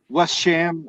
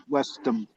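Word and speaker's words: West Ham: They were like, "No, it's not the American Birmingham," and I was just like, Or another good one is "Pronounce it. instead of West Sham, it's Westham.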